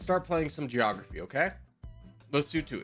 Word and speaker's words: Lesotho: Wait, is this Lesotho? Is this Lesotho? Which is, yes, that's the correct pronunciation of this is Lesotho.